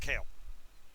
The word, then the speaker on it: Kael: But it's pronounced Kale.